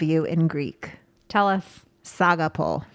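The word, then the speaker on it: σ' αγαπώ: in greek tell us saga poll saga poll not a pole po saga yeah i like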